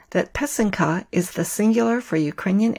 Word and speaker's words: pysanka: comical communication I mentioned in episode 1 that pesum kah is the singular for Ukrainian eggs using the